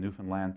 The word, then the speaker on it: Newfoundland: but I was a professor in Newfoundland for that's how you say it by the way and when when I